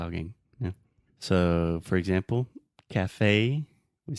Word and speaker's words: café: So I was going to get coffee in a café. If you say café, Americans probably will not understand you. So with all of these things with acento agudo at the end, we say a.